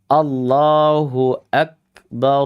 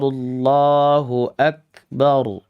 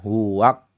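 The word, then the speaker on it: الله أكبر: Makanya di sini adik-adik semuanya bacanya dengan Allahu Akbar. Allahu Akbar. Begitu ya, bukan huak gitu ya. Hamzah qatnya dibaca wau.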